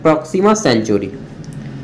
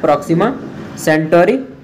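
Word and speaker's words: Proxima Centauri: तो पृथ्वी का जो सबसे निकटतम तारा है उसको बोलते हैं प्रॉक्सिमा सेंचुरी। क्या है, प्रॉक्सिमा सेंटोरी, चाहे सेंचुरी, जो बोलिएगा, भावना वही है, बस प्रोनाउंसिएशन थोड़ा अलग अलग होता है।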